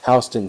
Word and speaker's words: Houston: Um, actually our one thing that our county is actually pronounced hon. All right, I shall. Thank you. Yeah, Hston County.